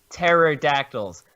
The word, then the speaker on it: Pterodactyls: Pterodactyls. The P is silent, like your screams.